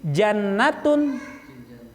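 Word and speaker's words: جنة: Iya, jadi jannatun ya itu surga, junnatun perisai, jinnah jin, jin itu semuanya goib itu.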